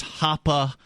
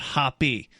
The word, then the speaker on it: Hoppe: Blockchain Bellwether says it's pronounced Hoppa, not Hoppy. So there must be a fan. They must be a fan of... It's like hopper, like get to the hopper.